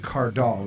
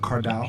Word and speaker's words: Cardall: play cardoll and your name is pronounced cardoll right not kardal yeah yeah cartel and